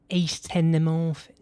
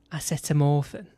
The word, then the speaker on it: acetamorphine: So it's not ace tenomorphin, it's acetamorphan.